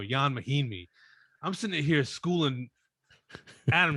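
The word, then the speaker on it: Ian Mahinmi: He's Ian Mahimi? No, Jan Mahimi.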